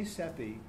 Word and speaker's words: CEPI: They say CEPI, but they never spell it out anymore.